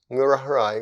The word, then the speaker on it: Ngurah Rai: the way it's the name of a hero murarai was a commander in the war for independence